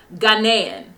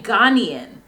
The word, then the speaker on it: Ghanaian: saying it wrong too ghanaian she was saying ghanian right wasn't she saying ghanian she wasn't saying ghanaian that's why i was